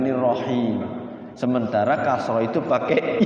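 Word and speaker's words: الرحيم: Kalau kendor itu cenderungnya Bismillahirrahmanirrahim. Nirrohem jadinya, bukan nirrohim.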